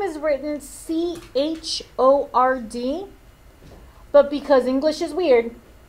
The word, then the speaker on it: chord: is this next one its name is written CH o rd but because English is weird this word is pronounced chord the CH is making a sound